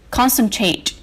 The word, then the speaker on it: concentrate: Now look at number 1. Concentrate. This word is stressed on the first syllable.